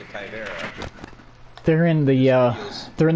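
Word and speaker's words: Caveira: we played this game together about how people mispronounce Kyvera's name and they say it's Caviera.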